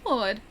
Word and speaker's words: sword: Literally no one says W and sword. That's blasphemy. No, it's it's sword. Sword.